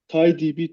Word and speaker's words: TiDB: TIDB. How do you pronounce it? TIDB.